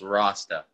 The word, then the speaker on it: Rosta: okay cool and uh my last name is pronounced rasta i'm terrible man roasted